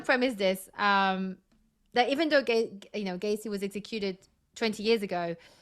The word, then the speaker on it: Gacy: Is it Gacy or Gassy? I'm saying Gacy. It's Gacy. Gacy, okay.